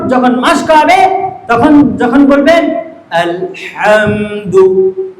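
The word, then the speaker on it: الحمد: মাসকবে তখন যখন বলবেন আলহামদু আলহামদু এখানে বলবেন এখানে জিন হা আছে না এই হা এখানে ওয়াও হা নয় গলা থেকে উচ্চারণ করেন আল হামদু তখন তার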